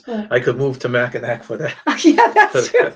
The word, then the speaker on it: Mackinac: But Mackinac, I think we say that wrong. Whatever island, how I think I mispronounced it.